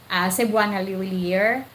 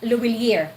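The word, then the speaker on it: Lhuillier: from GCash to Cebuana Luwilier, Luwilier, not Luwilier, okay? Because in French, you can pronounce that Luwilier, not Luwilier, okay? It's Luwilier, Cebuana Luwilier.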